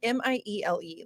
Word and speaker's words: Miele: Well, it's like Miele. Like that Yeah. doesn't. Yeah, If you were to like approach that phonetically, it wouldn't.